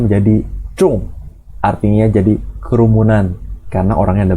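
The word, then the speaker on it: 众: Taruh 3 orang ren, atasnya ren, bawahnya ada 2 ren lagi, bacanya menjadi cung, artinya jadi kerumunan karena orangnya ada banyak.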